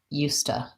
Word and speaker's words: used to: to in this case we often in casual speech will say it more like ustah so it kind of sounds like you stuck with an ah sound used to I wouldn't use that